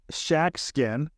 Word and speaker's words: Schatzkin: Paul you know so we we have Paul shackin and but pronounce it properly this time who is the